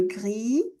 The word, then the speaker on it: gris: blanc, le gris, le S non plus, ça se prononce pas le gris, le bleu avec le son E.